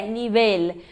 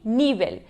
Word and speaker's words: nivel: Porque as paroxítonas terminadas em consoantes que não N nem S levam acento. Então, se fosse uma paroxítona, teria o acento no I, nível. Mas não, a sílaba tônica está na última.